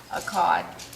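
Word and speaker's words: echad: Daniel a c h o d a HUD akad which means is one or Unity and then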